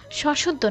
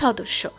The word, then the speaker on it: সদস্য: সশদ্ধ না হবে সদস্য।